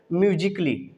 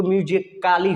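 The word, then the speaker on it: musically: यहाँ पे ए को हम नहीं प्रोनाउंस कर रहे हैं, नहीं तो ऐसे अगर ए को प्रोनाउंस करते तो म्यूजिकाली हो जाता है। क्या हो जाता है? म्यूजिकाली। लेकिन ए को साइलेंट रखेंगे, यहाँ पे साइलेंट रखा गया है, इसलिए ये बना वर्ड म्यूजिकली। क्लियर हो गया?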